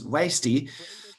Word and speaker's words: WASTI: It can be pronounced both in German as WASTI and in English as WASTI.